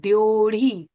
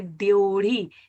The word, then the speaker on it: ड्योढ़ी: इसे प्रोनाउंस कैसे करते हैं बच्चों? इसे कहते हैं डढ़ी। ड ड पे नीचे आपने देखा है हलंत है डढ़ी।